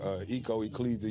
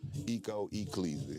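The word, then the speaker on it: Ecco E Cleezy: Ecco E, Cleezy. For I know sure. it look like Echo, but trust me, it's Ecco. Hey, man, it's definitely a different type of vibe.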